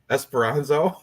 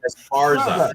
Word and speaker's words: Esparza: Esperanzo? You're adding like 3 syllables. Esperanza. It's Esparza. It's Esparza, not Esperanzo.